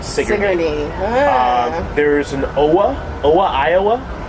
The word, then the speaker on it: Sigourney: There's it's spelled Sigourney, but they pronounce it Sigourney.